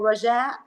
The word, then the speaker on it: Rajaa: But since it's very difficult to pronounce it, we say Raja. So it's easier to say Raja, it's fine.